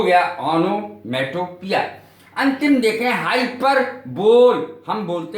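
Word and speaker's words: hyperbole: करने को कहते हैं हाइपरबली या हाइपरबोल। हाइपरबोल गलत उच्चारण है, अतिशयोक्ति, किसी बात को बहुत बढ़ा चढ़ाकर कहना, हाइपरबली कहलाता है।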